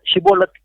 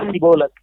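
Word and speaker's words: Shibboleth: போன நாட்டுல இருக்கிறவங்களுக்கு என்னன்னா இந்த உச்சரிப்பு வந்து அந்த ஷி அப்படிங்கறது வராது எஸ் ஐ அந்த ஷி வராது அவங்க சிபோலக் அப்படின்னு சொல்லிடுவாங்க சோ சிபோலத்னு சொல்றவங்கள பூரா அவங்க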